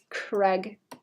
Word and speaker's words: Craig: They say Craig, right? Craig. Rhymes with egg.